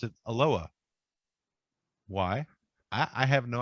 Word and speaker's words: Aloha: then there's a town just outside of Portland that's spelled a l o h a which you know most people who would see that especially if you're from Hawaii would say aloha but here they pronounce it aloa why I I have no idea why they